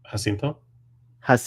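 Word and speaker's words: Jacinto: you pronounce it the right way because he pronounced it that way can you say his last name hinto hinto so Manny hinto he is so excited about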